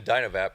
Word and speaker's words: Dynavap: because it's been Dynavap from the beginning, without an E, and wanted to try and give some meaning to the fact that there's no E, and the pronunciation being pronounced without the E, because the product not